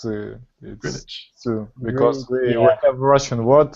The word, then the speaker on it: Greenwich: And Greenwich, it's Greenwich.